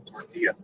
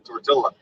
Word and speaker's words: tortilla: there's no athena missouri guess what there's no l's in tortilla yes there is no